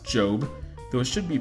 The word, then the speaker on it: GOB: George Oscar Bluth shortened the acronym gob pronounced Jobe those should be pronounced